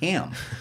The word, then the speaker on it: Hamill: I believe it's Ham. It's pronounced Ham.